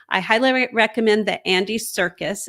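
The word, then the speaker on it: Serkis: like that so I highly recommend that Andy Circus it's spelled s-e-r-k-i-s not like the circus you do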